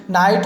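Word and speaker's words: knight: तो हमें याद रखना है कि के बाद एन और एन के जस्ट बाद कोई भी वॉवेल होगा तो के क्या होगा? साइलेंट होगा।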